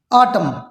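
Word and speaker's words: autumn: ऑटम, एम के बाद एन जो है उसको साइलेंट रखना है, तो इस पे ऑटम, एन को नहीं।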